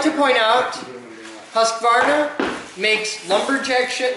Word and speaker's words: Husqvarna: There are not 3 syllables in Husqvarna. You just said 3 syllables. Husqvarna. Oh, it is. There are not 4 syllables in I Husqvarna. was adding an extra A.